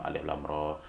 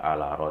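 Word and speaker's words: الر: Contohnya alif lam mim, alif lam ro. Tidak dibaca alama gitu ya, tidak dibaca alaro, tetapi harus dibaca sesuai dengan sifatnya atau huruf aslinya.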